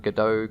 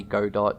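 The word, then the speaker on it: Godot: want to pronounce it I personally pronounce it gdau cuz I I heard that was how it's pronounced but it might be God dot you know just pronounce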